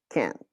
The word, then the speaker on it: can't: Cannot, or can't. When you're speaking fast, you do not pronounce the T for the negative. You just say the A so super large, or let's say with more time.